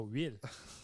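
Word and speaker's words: huile: of the word losers okay cuz tonight they will be losers okay and I will never forgive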